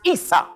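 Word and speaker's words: عيسى: In Arabic, Esau is pronounced Isa.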